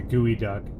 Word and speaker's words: geoduck: Okay, well we'll have to get with Stan and see how he pronounces it. I like the Gooey Duck.